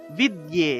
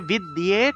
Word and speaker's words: বিদ্যে: নিচে বফলা আছে তাহলে উচ্চারণটা হবে সুয় সুয় উচ্চারণটা আসবে তাহলে সরস্বতী সরস্বতী মহাভাগে বিদ্যে এখানে দেখুন দ এর সাথে একটা জফলা আছে